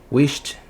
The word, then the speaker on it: wished: Se esse último som desse verbo não vibrar suas cordas vocais, você vai pronunciar esse ED final com som de T de tatu. Então, wished, não vibra, ó.